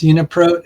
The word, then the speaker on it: UniProt: Um, Katie, the proper way to pronounce it, it's unapro as in protein, but I always called it pro. I mean, some people might get on your case for saying prot, so I just wanted